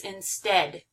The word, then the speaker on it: instead: This one's really tricky because it has that EA, and so it seems like it would be a long E sound, but it's not. It's instead.